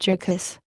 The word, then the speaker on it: Jurgis: just been married to Georges, asterisk pronounced Jurgis, of all men, to